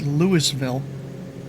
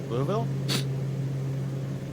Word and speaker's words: Louisville: Dude probably pronounces it Lewisville. Louisville. There we go.